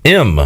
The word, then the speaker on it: Im: M.